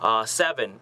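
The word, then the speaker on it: Se7en: Next up, I also like to recommend, I don't know if a lot of you have seen this, but Seven, that's spelled S-E-7-E-N, because, you know, whatever.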